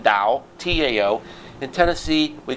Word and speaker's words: Tao: why I I wrote the book I wrote the book The Dal of Twitter that's the official pronunciation da Tao in Tennessee we call